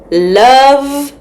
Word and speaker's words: love: But listen, friends, when we write the word love, it has a silent E at the end. So that means we do not hear it.